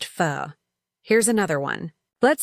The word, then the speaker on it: pho: The waiter smiles and says it's pronounced pho.